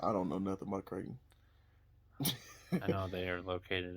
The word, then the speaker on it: Creighton: Princeton and creek creek how do you say it Creighton yeah why is the E there if I'm not gonna say it just kidding uh I'm